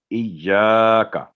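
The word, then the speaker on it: إِيَّاكَ: जो गलती होती है इय्याका ना बोलो, तो ये इय्याका नहीं, इय्या, या पर तशदीद है, यानी एक पहले जज़म है इज, फिर या पर उसकी जो ज़बर है उसके साथ अलिफ, इय्याका, का की आवाज़ लंबी नहीं होगी, इय्या 2 सेकंड, इय्याका।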